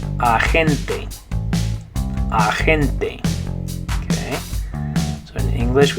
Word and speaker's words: agente: But instead of saying it, agent, you say it agente.